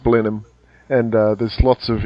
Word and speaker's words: Blenheim: with the Red Dot is English but it's pronounced Blenheim and uh there's lots of English words Blenheim